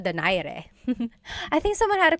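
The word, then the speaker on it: Donaire: So, our first poll here is going to be Mani Pacquiao versus Nonito Daire or is in in the Tagalog uh pronunciation. Nonito Dere.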